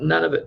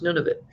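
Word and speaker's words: Nunavut: the none of it some people call it none of it but it's nun of it right yeah it means two different things none of it and nun of it that's right exactly yes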